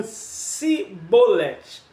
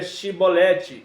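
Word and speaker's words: שיבולת: os gaditas proferiam como sibolete Então tinha essa variação entre eles na época entre as tribos aí você sabe a história já manda matar todo mundo que não pronuncia chibolete e aqueles que estão pronunciando chibolete lugar de travessia que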